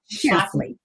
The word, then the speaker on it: Schlafly: And those behaviors that go on, remember in the series when Phyllis, how do you pronounce her last name? Schlafly.